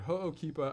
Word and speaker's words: Ho'okipa: the maui gym ho'okeepa and yes i might mispronounce some of these but ho'okipa i know because this is the most popular